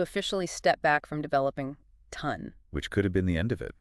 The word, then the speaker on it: TON: It's not to N. No, it's pronounced as one word. Ton like a ton of bricks rhymes with fun.